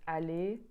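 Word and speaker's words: aller: in French for instance Ali to go monge to eat all of these have an R but the r does not get pronounced and the adjective Jean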